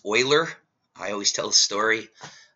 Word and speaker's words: Euler: do it in this video actually but it's pronounced Oiler the famous it's the sites named after the